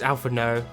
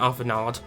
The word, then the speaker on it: Alphinaud: You don't pronounce a D at the end of it. It's ALPHINAUD, not ALPHINAUD. What seems to be the matter?